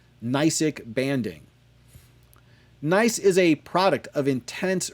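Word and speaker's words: gneiss: rock is called a nice the g is silent and is characterized by the foliated light and dark bands of minerals that we call nysic banding nice is a product of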